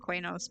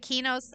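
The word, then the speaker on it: Qeynos: I I always called it Quenos, but then EverQuest 2. Um, Heather, what's her name? Heather, we talked about this was calling it Kenos.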